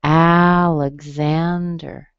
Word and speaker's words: Alexander: Okay, this one is stressed on the third syllable, but the first syllable also has a strong vowel. So Alexander. Lug. Hear a little G in there? That's the G-Z that makes the X.